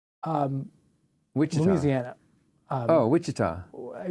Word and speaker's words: Wichita: and then kansas um which is louisiana oh wichita it's wichita yeah it's i had to look up how to pronounce it um yes so they um we're